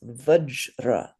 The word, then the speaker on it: vajra: So this word to me, when we say it properly in Sanskrit, sounds almost like it rhymes with fudge because it's vajra.